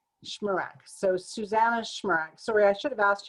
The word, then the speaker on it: Shmurak: last name i forgot to ask you the pronunciation so susannah schmerk sorry i should have asked you before we